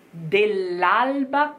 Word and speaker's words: dell'alba: dell'alba che piange. Dell'alba. You have double L in del. And then you have alba, which is not double, but sounds quite like a double. Dell'alba.